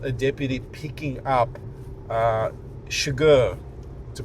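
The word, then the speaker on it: Chigurh: So um the film it starts with uh same as the book um a deputy picking up uh Shagur to pronounce it correctly Anton Shagar his character uh played by Javier Badm uh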